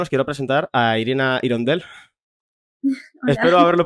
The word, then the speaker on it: Hirondelle: Bueno, en realidad se pronuncia como Igondel, Sí. pero bueno, a veces también digo Irondel o Irondelle o bueno, libre albedrío con eso.